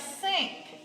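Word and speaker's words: cinq: gallon then we have sink this is five that's a cue on the end cease set that's seven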